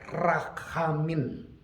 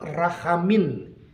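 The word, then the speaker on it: רחמים: Nah, saudara, dalam pengertian bahasa Ibrani, the word mercy in Hebrew adalah diucapkan dalam kata rachamin. Saya ulang, rachamin.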